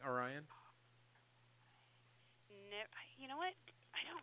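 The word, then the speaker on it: Aryan: my name Orion is my name. Spell it. A-R-Y-A-N. It's like Ryan with an A at the beginning. Orion.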